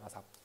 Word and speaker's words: ASAP: 그리고 얘는 원래는 ASAP라고 부르는데 우리나라에서는 그냥 아삽이라고 불러요. 아삽.